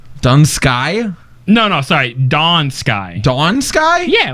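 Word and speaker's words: Dun Scaith: thought it was pronounced dun Sky dun Sky no no sorry Dawn Sky Dawn Sky yeah like the rising da sky so what the th is silent for you too yeah and the Y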